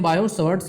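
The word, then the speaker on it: Biot–Savart: टी इसे silent समझो, तो इसलिए बोलते हैं बायोट-सवर्ट्स लॉ।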